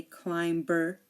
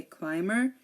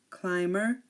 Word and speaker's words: climber: climber or plumber um here the B is silent we do not say climber or plumber no we say climber and we say plumber climber plumber no be the B is silent here um also when um